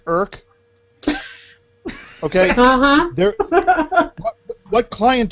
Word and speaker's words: IRC: internet Rel check how does that sound like irk okay uh there what client do you use do you use the URL client come on people it's irk just just like you don't pronounce you don't